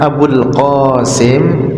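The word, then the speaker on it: أبو القاسم: ha kemudian apabila diganti dengan Abul qasim pakai huruf qof Abul qasim Abul qasim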